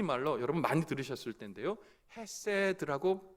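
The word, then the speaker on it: חסד: 이 긍휼은 히브리 말로 여러분 많이 들으셨을 텐데요 헤세드 라고 발음합니다 말합니다 이궁 율은 어떤 형편과 상황 속에서도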